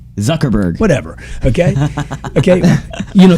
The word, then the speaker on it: Zuckerberg: more of a phenomenon you become think about zuckenberg think about jesus think about alexander the great think about all the young people am i saying it wrong zuckerberg whatever okay okay you know think about think